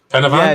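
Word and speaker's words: Pen y Fan: Oh my god, am I pronouncing Penavan, is it? Penavan?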